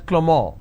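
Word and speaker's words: Clément: The name Clement is pronounced as Clement in French.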